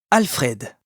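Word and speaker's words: Alfréd: Alfred a prononcé Alfred avec un accent aigu sur le e.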